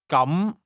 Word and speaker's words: 咁: say, in that case, or then, using a mid-rising tone. 咁。